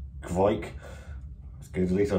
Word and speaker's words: kveik: ipa fermented with fight yeast pronounced kvike let's get at least